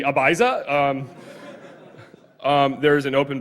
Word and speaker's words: Ibiza: couldn't really tell um I think the correct pronunciation is Ibiza and us Americans would pronounce it as the Ibiza um um there's an